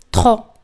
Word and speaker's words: trop: Demasiado en francés es trop. Trop. Pero al final no se pronuncia.